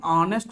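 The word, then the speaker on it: honest: ಬಟ್ ಉಚ್ಚಾರಣೆ ಮಾಡೋ ಮುಂದೆ ಹೆಂಗ್ ಓದ್ತೀರಿ? ಆನೆಸ್ಟ್ ಅಂತ ಹೇಳ್ತೀವಿ. ಹೆಂಗ್ರಿ? ಆನೆಸ್ಟ್ ಅಂತ ಹೇಳ್ತೀವಿ. ಈ ಆ ಅನ್ನೋದು ಯಾವ ಸೌಂಡ್ ಆಗ್ತದ ಅಂದ್ರ ಓವೆಲ್ ಸೌಂಡ್ ಆಗ್ತದ.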